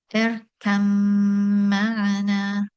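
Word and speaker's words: ارْكَب مَّعَنَا: So the letter ba is completely assimilated and is not pronounced. So one goes directly from the letter kaf to the letter mim.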